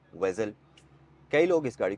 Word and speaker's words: Vezel: से यह बन गया वेजल तो इसको हम प्रोनाउंस विजल नहीं करेंगे यह एक्चु में वेजल है और अब आते हैं